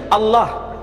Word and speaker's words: Allah: dibaca sesuai dengan tulisan Tidak ada seorang pun di kalangan masyarakat Timur Tengah ketika menjumpai istilah alif lam lam ha dibaca Allah. Tetapi mereka serempat menyebutnya dengan pronunciation Allah. Menyebut dengan sebutan Allah.